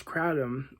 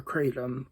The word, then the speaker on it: kratom: drugs a choice uh which is Kratom or Kratom um you can pronounce it either way uh as I've said